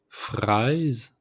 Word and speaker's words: fraise: The first one, the strawberry, is fraise. So put the accent to rolling the R. So fraise.